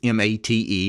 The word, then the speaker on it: MATE: actually an acronym it's m-a-t-e and it's pronounced mate the stress is on the first syllable and mate is actually